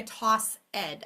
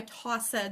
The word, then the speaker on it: tossed: word toss and again a very immature way to say it would be I toss Ed I tossed the ball to you don't say it like that um we say tossed it actually has a te key sound at the end tossed so your student what